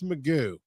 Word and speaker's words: Magoo: So we'd love to, Magoo. It's Magoo, by the way, Joe. Did you know that? It's Magoo.